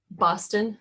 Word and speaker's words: Boston: Boston, like the city.